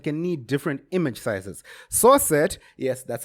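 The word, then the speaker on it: srcset: screen sizes and can need different image sizes souret yes that's how it's pronounced fight me is an attribute that allows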